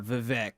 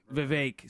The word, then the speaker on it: Vivek: you're going to hear Chris Christie versus uh vivec going back and forth Vivek so I can't come off that wow okay